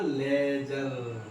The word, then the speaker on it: ledger: इस किताब का नाम था लेजर, LEDGER, जिसमें डी साइलेंट होता है।